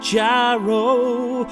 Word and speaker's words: gyro: to get get a gyro although it's technically pronounced hero although I still want to call it a gyro cuz it sounds cooler stomach dude are you going